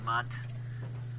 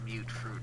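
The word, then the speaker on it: Mutfruit: Yes, it's pronounced mute, not mutt. People in the game pronounce it mute fruit, for God's sake.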